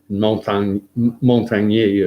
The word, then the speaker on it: Montagnier: I'll spell that for you because Luc is L-U-C, it's French. Montagnier is Montagnier.